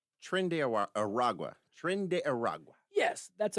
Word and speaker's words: Tren de Aragua: So the strike the other day targeted a boat tied to, can you pronounce this thing? Tren de Aragua? Tren de Aragua.